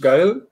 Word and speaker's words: Gael: I hope I pronounced your name correctly. Is it Gael? Is that yeah?